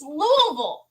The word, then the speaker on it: Louisville: couldn't do it and you could hear them shouting no it's Louisville just say it right right it's Louisville it was I love